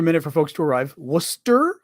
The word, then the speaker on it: Worcester: Worcester, I'm going to guess, because that's the way we pronounce it out east of the U.S.